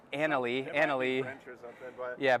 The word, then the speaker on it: anole: I mispronounced that as anal on Instagram, and I never heard the end of it, so now I'm like hesitant to even try to pronounce it. But I believe it's anole or anole.